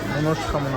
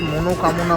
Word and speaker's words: মনোকামনা: শেষবারের মতো ঘুরে দেখা মনষ্কামনা মন্দির আসলে মন্দিরটার উচ্চারণ হচ্ছে মনোকামনা মন্দির এখানে নাকি পুজো দিলে